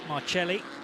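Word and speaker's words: Marcelli: Chris Hall and Kyle marelli y now I not it okay that's the American pronunciation pronunciation rather than the Italian okay yeah yeah yeah he's Canadian yeah yeah yeah fine marceli thank you and the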